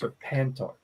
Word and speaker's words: Serpentor: So in that box is a sealed original Serpentor. Unopened. Yes. Serpentor. It sounds like Serpenthril. That's Serpentor. It's Serpentor.